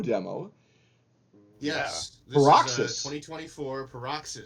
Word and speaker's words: Paroxys: Dem Mo yes 2024 perox is that how you pronounce it yeah like paroxismo Australia this is some